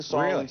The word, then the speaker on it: psoralen: Psoralen is a word that starts with P, but it's pronounced with an S, psoralen, and ultraviolet A and comes from the sun.